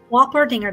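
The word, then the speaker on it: Wolpertinger: say to pronounce it Walter dinger This Is How They said to pronounce it on Google translate it is spelled w-o-l-p-e-r-t-i-n-g-e-r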